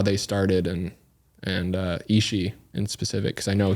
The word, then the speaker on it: Ishi: So yeah, I wanted to kind of talk a little bit about them, and also Ishi. Is that how you pronounce it?